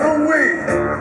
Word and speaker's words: Hoo-Wee: My name is Hoo-Wee. Y'all say it like wee-wee, but my name is Hoo-Wee.